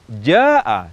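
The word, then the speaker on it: جاء: Ja'a jika dibaca dengan panjang dua harakat saja, maknanya tidak berubah. Namun secara uruf, kebiasaan baca Al-Quran yang benar, ja'a seharusnya diucapkan dengan panjang mad yang lebih dari dua harakat.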